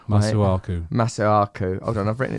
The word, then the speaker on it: Masuaku: It's actually pronounced Masuaku.